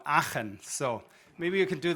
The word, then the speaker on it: Aachen: Can we, on the count of 3, all pronounce my hometown, which is displayed here, which is called Aachen.